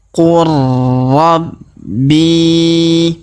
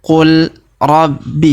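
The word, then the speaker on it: قل ربي: ro yang berharakat tasdid maka huruf la yang berharakat sukun ini melebur masuk ke huruf ro yang berharakat tasdid cara bacanya Qur Rabbi perhatikan Qul Rabbi Jadi bukan dibaca Qul Rabbi ya ya tapi Qur ya huruf la yang sukun ini tidak dibaca lagi ya karena sudah melebur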